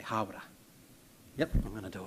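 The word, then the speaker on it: Hāwera: I heard you say hara, it's hawara.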